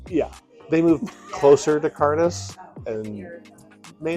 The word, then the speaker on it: Cairdeas: seems to be um big on hard to uh phonetically explain the words right so it's ctis but it's spelled might be backwards c a i r d e as but and the name